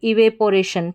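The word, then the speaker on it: evaporation: ऐसे याद रखें इवेपोरेशन इवापोरेशन पी ओ पो साउंड देख देंगे तो आप स्पेलिंग सही लिख पाएंगे लेकिन उच्चारण इसका ये रहेगा इवापोरेशन इवापोरेशन फिर से देखें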